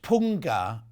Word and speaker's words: punga: It's pronounced punga. It's I was completely wrong.